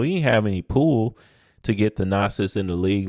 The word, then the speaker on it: Thanasis: I believe is a brother's name is pronounced the nasis an Tumo so with